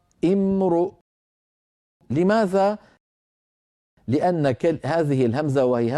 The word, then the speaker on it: امرؤ: إن امرؤ، لو وقفنا على إن وأردنا أن نبدأ، كيف نبدأ؟ نبدأ بهمزة مكسورة امرؤ. لماذا؟ لأن هذه الهمزة وهي همزة الوصل وقعت في اسم، والعرب تكسر همزة الوصل في الأسماء امرؤ.